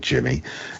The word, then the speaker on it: Jemmy: a young man whose name is Jemmy, but he pronounces it like Jimmy, and he becomes friendly with Clark.